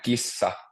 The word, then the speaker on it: kissa: Kisa means competition, and kissa means cat.